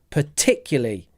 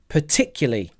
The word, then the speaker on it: particularly: easy are you ready perly four syllables particularly stress is on tick particularly particularly Big Mouth particularly